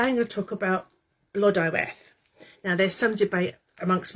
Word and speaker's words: Blodeuwedd: But today I'm going to talk about Blodeuwedd. Now there's some debate amongst my friends how that's pronounced, but my Cardiff advisory team is saying Blodeuwedd, so that's what I'm going with.